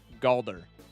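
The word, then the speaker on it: Galdur: This mod is called Galder for anyone who wants to install it. It is spelled the same way as Baldur's Gate 3, but with a G. Galder.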